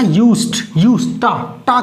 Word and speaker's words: used to: Okay, पहली बात तो इसका जो प्रोनाउंसिएशन है वो डा मत पढ़ना, यूज्ड टा की आवाज आएगी। क्या आएगी? The pronunciation is exact pronunciation is यूज्ड टू यूज्ड टू।